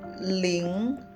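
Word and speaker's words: líng: Sedangkan ini ling ini dibacanya tetap ling.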